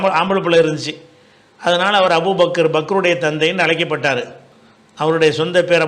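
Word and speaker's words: أبو بكر: அந்த சொல்லுடைய சரியான உச்சரிப்பு என்னென்னு கேட்டால் அபு பக்ர். சரியா? இது இந்த பேர் நிறைய பேர் இப்படி தப்பாக சொல்கிறதுனால, ஏன்னா அப்படி நான் ஒரு பாட்டு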